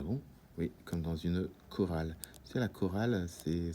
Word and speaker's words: chorale: Et dans ce cas-là, on ne dit pas une chorale ou des choristes, on dit une chorale, des choristes.